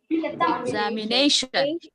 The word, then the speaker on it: examination: Examination. Yeah, here the stressed syllable is nay. Examination. As it is a longer word, it has secondary stress also.